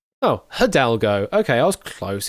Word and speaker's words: Hidalgo: Uh, pronounce Hidalgo. Hidalgo. Oh, Hadalgo.